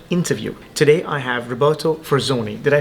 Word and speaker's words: Forzoni: welcome to another interview today I have Roberto for Zoni did I pronounce that correctly you did yes okay perfect